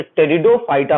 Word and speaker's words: Pteridophyta: टेरिडोफाइटा के नाम का पहला अक्षर पी होता है जो साइलेंट होता है, याद रखिएगा। तो फर्स्ट लेटर पी से स्टार्ट करेंगे, लेकिन पी को पढ़ते नहीं है, साइलेंट रहता है, तो टेरिडोफाइटा पढ़ेंगे।